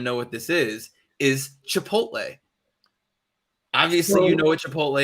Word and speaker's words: chipotle: of pepper but it is the second most mispronounced word word in the united states chipotle uh chicha portal like all of these it's really simple guys chipotle chipotle i like it okay now we're gonna get